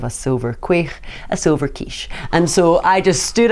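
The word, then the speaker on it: quaich: catalog instead of a silver qu a silver kiche and so I just stood up onto the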